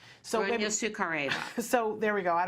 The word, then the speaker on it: Sukhareva: How did you pronounce her name? Sukhareva.